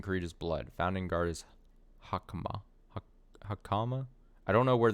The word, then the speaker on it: Hakama: Okay, so the first thing is stressed. So that's Hakama, not Hakama.